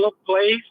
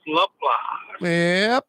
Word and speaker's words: Laplace: Spell Laplace, pronounce Laplace.